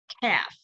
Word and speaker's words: calf: as a calf c-a-l-f the L is silent say it with me half good and of course